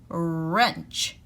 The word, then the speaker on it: wrench: front of it and remember the w is silent so we hear the er wrench a wrench is a